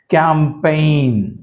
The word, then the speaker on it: campaign: Campaign, G silent.